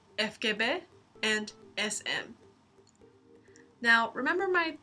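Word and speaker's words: ФГБ: that's the sm but in this case it's pronounced fkbe and sm now remember my terrible drawing of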